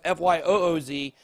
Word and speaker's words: Fuse: on the channel before it's spelled a little interesting so it's not fusc which is another project we work with but fyoz uh they got a